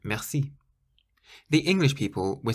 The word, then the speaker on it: merci: It was this word that taught me something useful in French, and that is that you always emphasize the last syllable of any word.